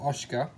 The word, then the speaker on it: Asuka: here we do however have an asuka or oscar a hundred club depending upon how you pronounce that lots of the i mean the commentators generally pronounce it as oscar that's obviously spelled that asuka 100 club at 85